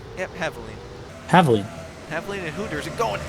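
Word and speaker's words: Havoline: Did I pronounce that right? Yep, Haviline.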